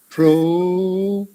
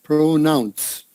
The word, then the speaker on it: pronounce: Long O, pronoun. Yeah, nounce. Yeah, like that. Pronounce. Yeah, that's it. Pronounce. So it's important to get that S on the end. Pronounce. Okay? Maybe that N and S together are a little difficult.